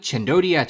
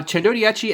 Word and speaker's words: Centodieci: Introducing the LEGO Speed Champions Bugatti Chendodia. And yes, I had to look up the pronunciation of this set online.